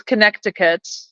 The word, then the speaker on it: Connecticut: It's Connecticut.